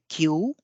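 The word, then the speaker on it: 九: आठ के लिए हाची, नौ के लिए क्यू या फिर कु। तो यहाँ पे आप देख सकते हैं कि तीन तरह के उच्चारण हो सकते हैं, लेकिन जो सबसे लोकप्रिय और प्रचलित है वो है क्यू। क्यू के बाद एक और ऊ की ध्वनि है यानी कि क्यू।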